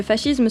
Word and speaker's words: fascisme: Le fascisme se prononce comme ça car en italien, S et C se prononcent ch.